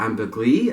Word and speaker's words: ambergris: Then the base is cedar, vetiver, and ambergris, or ambergris as it's pronounced, which translates as grey amber.